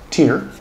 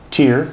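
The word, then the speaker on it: Tyr: So Tear, T-Y-R, and I'm assuming that I'm hopefully pronouncing that right.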